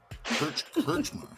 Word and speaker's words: Krichmar: Tonight's special guest, we have Krichmar. Did I say that right? So close. Krichmar. Yeah. Krichmar. Krichmar. It's like Richmar with a K.